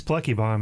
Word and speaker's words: Pluckebaum: It's Plucky Bomb. If you're not giggling, you're saying it wrong.